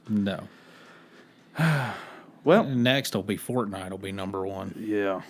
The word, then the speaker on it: Fortnite: I was like like no I don't play fork knife and they're like they're like no it's fortnite I was like I was like what I